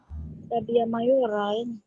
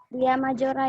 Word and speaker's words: labia majora: Labia mayora. Masih padam, Safitri, Ibu. Oke, lanjut. Ulfa, nomor 10, ada Ulfa? Labia majora, Ibu. Mayora, bacanya ya? Bukan Oke, pakai D, pakai Y bacanya. Oke, lanjut.